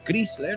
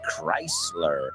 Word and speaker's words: Chrysler: now that we know it's not pronounced scler it's Chrysler plus famous birthdays and